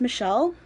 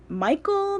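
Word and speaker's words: Michaele: will try ok so my real name is Michelle but it's not spelled with two L's and it's not spelled without an A my name is spelt mi CH AE II so Michael with an e at the end of it so it wouldn't surprise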